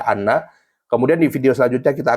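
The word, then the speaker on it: أنّ: Kemudian itu alasan-alasan, salah satu alasan kenapa hamzah dibaca fathah ya, pada lafaz inna dibaca anna.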